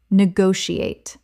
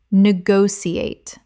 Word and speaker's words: negotiate: Negotiate. Common mispronunciation. Negotiate. Correct pronunciation. negotiate Five syllables with the stress on the second.